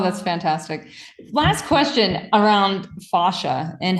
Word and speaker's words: fascia: Fascia, there's either pronunciation works. I say fascia.